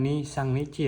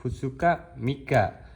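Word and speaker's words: 二三日: Jadi misalkan ada angka 2 3 lalu kanji nici atau kanji hari kita jangan nisang nici tapi kita ee membacanya e yomiatanya itu hutsuka mika yang artinya 2 sampai 3 hari.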